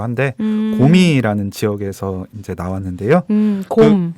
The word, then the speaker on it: Qom: 곰. 네. 네, 전 처음에 잘못 봤나 했었어요. 곰. 스펠링으로 하면 QOM인데 이제 뭐 QM. 페르시아어식으로 읽으면 곰이 되는 거고요.